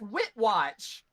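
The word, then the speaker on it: Witchwatch: have our ceremony yay you guys are never going to pronounce the city name right are you WR it's wit watch it is wit watch it's so hard it's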